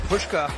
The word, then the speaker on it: Pushka: We got to credit Pushka. We were saying it wrong in the first half on that saving tackle